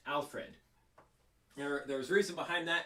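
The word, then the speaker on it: Alferd: spelled like that but uh yeah yeah it's pronounced alfred there there's reason behind that and that's not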